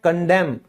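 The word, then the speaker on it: condemn: निंदा करना, बुराई करना उसे हम इंग्लिश में कहते हैं कंडेम। ठीक है? यहां भी एन साइलेंट है।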